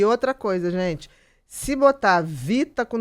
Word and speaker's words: Vhita: A gente fala Vita, mas se escreve com H.